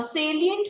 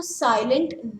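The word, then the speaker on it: salient: नाउ सेलिएंट features of द एक्ट, इसको साइलेंट नहीं बोलते हैं, इट इज सेलिएंट features of द एक्ट।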